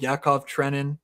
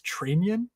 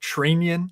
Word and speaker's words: Trenin: Yakov Trenin, which, by the way, I think it's Trenian. I think the announcers are properly pronouncing his name for Minnesota, so Trenian.